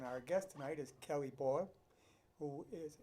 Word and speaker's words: Bol: And our guest tonight is Kelly Boyle, who is, did I say it right? Bowl. Boyle, yep.